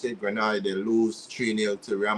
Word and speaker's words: Granada: Granada that's how you pronounce it. Granada, they lose 3-0 to Real Madrid.